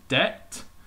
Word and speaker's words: debt: We'll look at our next one, which is debt. So can you guess which is the silent letter there? Hopefully, you identify that as being another B.